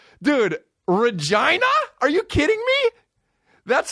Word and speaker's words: Regina: done that what even Regina Saskatchewan is like wow they up with their titles and we rhyme with vagina dude Regina are you kidding me